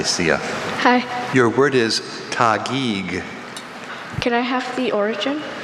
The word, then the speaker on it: Taguig: Are there any alternate pronunciations? Only Tagiig.